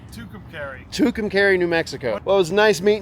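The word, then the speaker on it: Tucumcari: charging stuffs in t Tu how do you pronounce it tukum Cary tukum Cary tukum Cary New Mexico well it was nice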